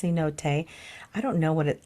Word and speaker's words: cenote: cot which is uh spelled c n o t pronounced Cote I don't know what